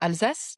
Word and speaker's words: Alsace: What'd you think of the Vosges, that whole section in the all is it Alsace? How do you say that? That In region? French, Yes. Oh, Alsace, yeah, Alsace.